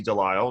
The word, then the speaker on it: Delisle: and professional in the area she is Stacy de lisle she is the director of community outreach and